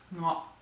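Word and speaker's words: ङ: It's pronounced like this, like it's guttural, so it's a ngo, ngo, ngo.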